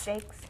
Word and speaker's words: Jacques: Jacques, Jakes. he Jacques. says Jakes, but it's spelled French.